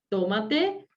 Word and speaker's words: tómate: No es lo mismo tómate, ¿sí? Que tomate. Tomate, la verdura, y tómate tu tiempo.